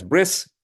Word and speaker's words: Brit: So we're actually today going to begin B'rit Milah, or what is often called bris, by the Ashkenazi Jewish community, who pronounces Brit as bris.